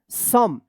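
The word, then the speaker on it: some: ये अपना खुद का ये रूल है कि यहां पे ओ का अ उच्चारण होगा। इ का कोई उच्चारण नहीं होगा। इसको पढ़ेंगे। सम एस ओ एम ई सम इ साइलेंट रहेगा।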